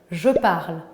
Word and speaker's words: parle: verbes du premier groupe on ne prononce pas les terminaisons e es e ent jamais parti numéro 2 les